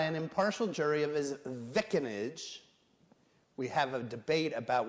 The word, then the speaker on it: vicinage: And to a speedy trial by an impartial jury of his vicinage. We have a debate about whether that's in New Jersey, that's definitely pronounced vicinage.